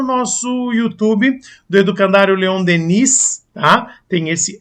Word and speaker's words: Denis: YouTube do Educandário Leon Denis, tá? Tem esse S aí, se pronuncia só Deni, mas tem esse S no final, OK?